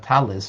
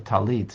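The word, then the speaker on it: tallit: The physical reality of a talis or a talit, depending on how you pronounce, is encompassing of the person.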